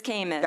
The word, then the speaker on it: CAMMIS: I was going to ask, you know, only Department of Healthcare Services do we pronounce all these acronyms differently. So this is CAMIS. This is CAMIS.